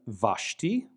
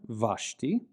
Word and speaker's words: Vashti: But in modern Israeli pronunciation, it generally receives a V pronunciation, v, just like the letter Beit when written without the dagesh. So we'll see the Vav in the name Vashti, queen mentioned in the book of Esther, Vashti.